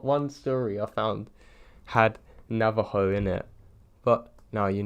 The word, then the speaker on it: Navajo: everybody loves them and yes I'm fully aware that it's pronounced Navajo not Nava joy it's because I've spent